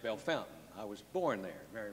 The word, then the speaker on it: Bellefontaine: town in Ohio that looks like it is Bella Fontaine is pronounced Bellefontaine I was born there Mary retained hospital let